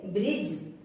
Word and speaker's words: bridge: जैसे ब्रिज, BRIDGE, ब्रिज। BRIDGE, ब्रिज। ई letter कब silent होगा? ई कब साइलेंट होगा? किसी वर्ड के लास्ट में अगर ई आए तो हमेशा साइलेंट रहता है।